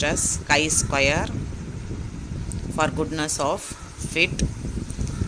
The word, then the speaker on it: chi-square: The other symbol is the x square, which is pronounced as chi-square for goodness of fit.